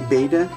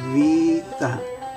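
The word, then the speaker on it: βήτα: And so then what we would call eta, to make the A sound, when we say beta, actually you would say vita, vita.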